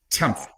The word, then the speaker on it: Tema: Tema.